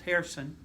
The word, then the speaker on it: Jerson: 2018, Victor was my translator, and 2019, last year, Harrison, spelled Jerson, yeah, that's pronounced Harrison.